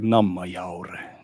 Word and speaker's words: Nammajaure: You pronounce it like, as they speak up north in Sweden, like Nammajaure, Norrbotten. They talk like that.